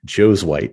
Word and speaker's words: Josuweit: name so it's spelled Joe's white so that's how it's pronounced just like like Joe is Caucasian Joe's wipes that's the easiest way to remember it there um and people